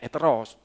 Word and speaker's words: heteros: Tapi orang sana bacanya heteros, hanya nggak kelihatan hanya gitu.